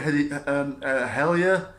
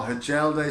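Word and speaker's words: Hjelde: I think he'll go with Hellier. I think his name is, or Hajelde, some people might know him as, but I think the correct pronunciation is Hellier.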